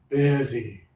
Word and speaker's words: busy: A lot of students started off saying easy e and most of you actually all of you corrected the problem.